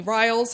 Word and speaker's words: Rials: restaurante lombardo and tony riles and that is the proper pronunciation of your name it is thanks from bourbon and